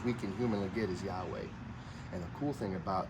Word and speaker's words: Yahweh: so that's actually a mispronunciation the correct original pronunciation as close as we can humanly get is Yahweh and the cool thing about the name Yahweh